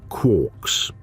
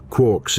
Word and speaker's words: quark: Gell-Mann pronounced it to rhyme with fork, even though Joyce intended it to rhyme with lark.